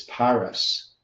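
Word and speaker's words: Peres: The root word is Perez meaning divided matching the fiscal halfmina but pronounced as parus.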